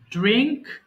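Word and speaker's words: drunk: ড্রিঙ্ক পান করা, ড্রিঙ্ক, ড্র্যাঙ্ক, ড্রাঙ্ক। মাঝখানে যে ওয়ার্ড আছে সেটা ড্র্যাঙ্ক, ড্র্যাঙ্ক, হবে, হ্যাঁ, ড্র্যাঙ্ক। আর যেটা লাস্টে আছে সেটা হচ্ছে ড্রাঙ্ক।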